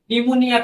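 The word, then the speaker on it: pneumonia: নি মানে হচ্ছে হাঁটু, হাঁটুর বেলায় নির কের উচ্চারণটাও সাইলেন্ট থাকে। অনেকগুলো শব্দ আছে, যেমন নিউমোনিয়া পি দিয়ে শুরু হয়, তো পির উচ্চারণটা সাইলেন্ট থাকে।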